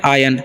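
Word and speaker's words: ion: एन है तो इसे हम लोग पढ़ते हैं आयन आयन मतलब होता है अनु ठीक है और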